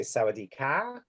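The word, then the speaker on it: สวัสดีค่ะ: You say Sawadee Ka, goes up, and boys, men would say Sawadee Krap, like a P, but you don't breathe through it.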